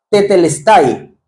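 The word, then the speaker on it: τετέλεσται: Además, cuando él dice esa palabra consumado es o esa frase en en griego, el término se dice tetelestay.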